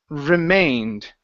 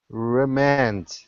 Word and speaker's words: remained: Remained. Remand. Huh? Long a sound. Instead of remand, it's remained.